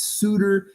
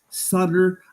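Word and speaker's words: Sauter: name correctly first ever it's always It's s a u tt ER to me solder seems pretty simple it's Suter it's Suter I've even had the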